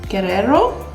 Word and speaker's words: Guerrero: beverly hills collaboration um highlight palette with nicole guerrero that's how you say it and i'm going